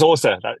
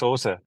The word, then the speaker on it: Åsa: That's Åsa. Yeah, Åsa. She's half Norwegian and half Swedish, and her name is spelled ASE, and it's got like one of those little round things on top of the A.